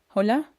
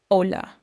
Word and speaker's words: hola: Hola. And here's a little secret. The letter H is completely silent. You never say the H sound. So, it sounds like Hola.